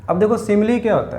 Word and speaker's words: simile: हम लोग करें आर्टिकल्स डिस्कस, और आर्टिकल्स में आज मैं आपके साथ डिस्कस करूँगा सिमिली और मेटाफर का यूज़। ठीक है, देख लो स्पेलिंग देख लो, SIMILE, इसको बोलते हैं सिमिली।